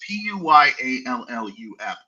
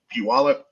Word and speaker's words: Puyallup: from Puyallup, which is a city that no one can pronounce. Puyallup. Who the heck thinks that's Puyallup? That's the ultimate litmus test, by the way, Ryan. If you need to know if somebody's from the state, ask them how the city is pronounced. And if they say anything but Puyallup, they are a foreigner and they are not to live in our state.